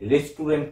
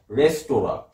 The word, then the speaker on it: রেস্তোরাঁ: এবার রেস্তোরাঁ, এটা হচ্ছে রেস্টুরেন্ট নয়, এটার আসল উচ্চারণ হচ্ছে রেস্তোরাঁ। বাংলায় যদি লেখা হয় রেস্তোরাঁতে একটা চন্দ্রবিন্দু হয়, কারণ নাকি সাউন্ড, ওটা নাকের ইউজ হয়।